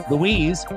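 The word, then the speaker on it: Luis: for Seattle in the bottom of the third Louise uras not uas popped up on the warning track o one away and I have to spell it you know so that way remember how to say it Louise l u i s space the letter u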